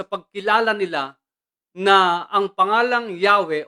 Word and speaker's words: Yahweh: O Ang tetragrammaton O isinalin bilang yahwe yung complete pronunciation po nito ito ay